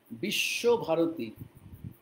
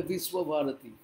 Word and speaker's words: বিশ্বভারতী: university is called বিশ্বভারতী বিশ্বভারতী ইংরেজিতে বলে বিশ্বভারতী হিন্দিতে বলে বিশ্বভারতী আমরা বাংলায় বলি বিশ্বভারতী এটা আমাদের উচ্চারণ চেঞ্জ করার দরকার নেই তো তারপরে কি অল